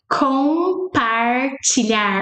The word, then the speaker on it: compartilhar: Compartilhar. Our M never sounds like M. Compartilhar. It sounds like N.